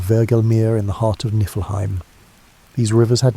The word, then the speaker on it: Niflheim: To the north of this void lay Niflheim, pronounced Niflheim, the realm of ice and mist.